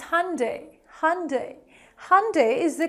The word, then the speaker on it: Hyundai: Hyundai is the correct pronunciation of this brand.